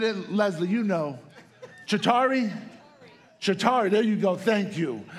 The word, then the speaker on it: Chitauri: The Chitauri, I think I'm mispronouncing it. I don't remember exactly. Chitauri, is that it? Leslie, you know. Chitauri? Chitauri, there you go.